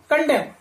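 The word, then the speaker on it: condemn: डी ई एम एन, कंडेम, कंडेम का मतलब निंदा करना या दोष लगाना या दोषी ठहराना, ये आशा है, इसका प्रोनाउंसेशन क्या होगा, कंडेम जी। यहां पर भी एन क्या है, साइलेंट लेटर है।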